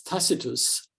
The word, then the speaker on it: Tacitus: this this Legend um takus uh widely pronounced as tacitus um but I believe um it was takus during the Roman period um takus says in